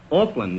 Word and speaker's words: Auckland: Oh, I'm from Auckland. Auckland? Well, that's right across the bay from San Francisco, isn't it? No, Groucho. Auckland, A-U-C-K-L-A-N-D. I don't care how you spell it.